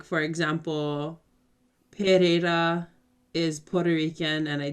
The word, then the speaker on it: Pereira: answer your question no both pereiras are are locally pronounced pereira um so there isn't